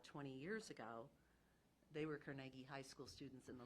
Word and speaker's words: Carnegie: Carnegie it helps it we're called The Carnegie Carnegie nobody else can say that and it is the right way to say it um I at least it's the Scottish way of saying it but